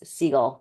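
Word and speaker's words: Sigle: Maris Seagull, like a seagull, the ones that fly.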